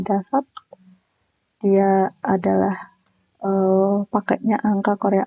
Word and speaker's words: 다섯: Jadi dasat ya, ini bacanya dasat.